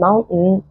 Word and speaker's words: mountain: ممكن تبقى held T، فما اعملها زي الهمزه لو جه بعديها N as in mountain اوكي، or written or